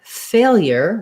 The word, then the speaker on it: failure: In the word failure, we have first syllable stress, and we have the A diphthong, A, fe.